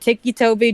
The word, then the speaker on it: Ticci Toby: spelled like what else how else would you pronounce it Ticky Toby just it doesn't well to be fair I've